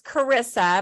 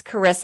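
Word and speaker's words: Charissa: Well, it's just, you know, it sounds like charisma basically, but it's Cararissa and the H is silent.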